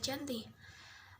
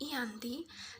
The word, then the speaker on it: Giyanti: Perjanjian Giyanti ditandatangani di Desa Janti, atau dalam pelafalan Belanda disebut Ianti, dan secara tertulis terbaca Giyanti, yang saat ini nama tersebut disebut Dukuh Kerten, Jantiharjo, Karanganyar, Jawa Tengah.